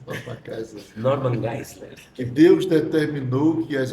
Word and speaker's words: Norman Geisler: Judas, aí vai bater com aquele pensamento de Norma Geisler. Eu gostei da sua pronúncia, Norma Geisler. Norman Geisler.